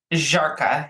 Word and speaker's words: Żarka: So anyway, it also is starring Benjamin Ayres, Christopher Russell, and Kurt Żarka. I don't know. Jessica, with your Polish husband, you'll have to help me out with this. Szarka. Żarka, yeah. Żarka.